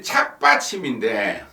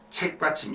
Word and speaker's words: 착받침: 근데 착받침인데, 이상근님 말씀하신 대로 착받침인데, 우리나라 사람들 발음이 이 착에다 딴 이를 붙여갖고 아 발음을 에 발음으로 하는 그런 경우가 많죠. 이를테면 소고기인데 소에다 딴 이를 붙여 쇠고기를 한다든지, 사투리지만 학교를 핵교를 한다든지, 할배를 헤레비, 하라비를 헤레비, 이런 식으로 하듯이 착받침인데 책받침 이렇게 됐다, 이런 이야기입니다.